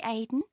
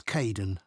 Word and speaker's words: Kaeden: I'm Kaeden, one of the supervisors. Welcome to the team. Hi Aiden. Uh it's Kaeden.